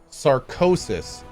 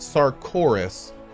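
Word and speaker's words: Sarkoris: please read this it's sarcosis not sarcorus sarcosis okay theorycrafter got it sarcosis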